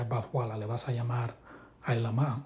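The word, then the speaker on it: עלמה: Sabemos que la pronunciación correcta es Ailama, ¿ok?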